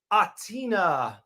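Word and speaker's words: Athina: That's Atina, the silent H on that one.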